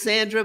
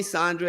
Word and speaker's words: Sandra: I say her name Sandra. She always says, it's Sandra, but you can call me Sandra. It works either way.